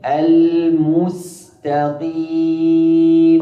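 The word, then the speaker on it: المستقيم: Mim almustaqim. Perhatikan damah mimnya di kalimat almustaqim.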